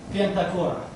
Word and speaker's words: pentachora: Do I pronounce it correctly, English speakers? Pentachoron. And for the plural, pentachora.